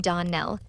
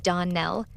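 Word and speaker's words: Donnell: ClariS Almira told me that you pronounced our name Darn Nell. Now Miss Shirley the correct pronunciation of our name is Don Nell accent on the last syllable.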